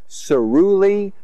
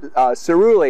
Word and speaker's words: caerulea: So this is a, so it's Passiflora, and it's Passiflora, caerulea. I don't know if there's any other ways to pronounce that. Caerulea is what I call it, caerulea, and it's a hardy